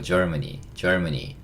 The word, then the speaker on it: Germany: 근데 이렇게 가만히 들어보시면 이것도 재밌는 얘기긴 한데 Germany 이러면 이게 약간 이렇게 들려요. 젊은이. 이봐 젊은이 이렇게 할 때 Germany. 예. 그 정 안 되시면 제가 이렇게 발음하라고 예전에 장난쳤던 기억도 나는데 그렇다고 너무 젊은이 하시면 안 되고 약간 Germany 하시면 됩니다.